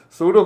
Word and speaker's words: pseudo: sorry yes yes yes p is silent you just say it as pseudo code p s e u d o but you call it